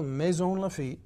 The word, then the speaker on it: Maisons-Laffitte: Tell me, Maisons-Laffitte, how do you say it in French? Well, Maisons-Laffitte, that's right, and it is a little town.